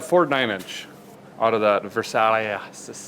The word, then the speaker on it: Versailles: All right, We got a Ford 9-inch out of that Versailles. it's a Versailles. I don't think that's what it's Silent S on the end.